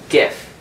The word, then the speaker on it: GIF: his own opinions however under normal English phonetic rules we would pronounce it as gif we would not soft